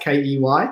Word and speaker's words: Ky: Uh Key pronounced K E Y, Key.